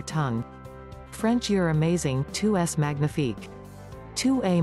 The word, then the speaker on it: magnifique: French, you're amazing, 2s magnifique. 2a ma nyee fique.